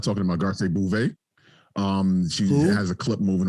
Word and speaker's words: Garcelle Bouvet: We're definitely also not talking about Garcelle Bouvet. She has a clip moving around. Garcelle Bouvet. How do we say it? No, you said it. You said it right, but I was just kind of like, ooh.